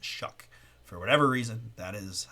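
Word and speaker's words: Shough: And I know it looks like show or shog or whatever, but it's pronounced Shuck for whatever reason.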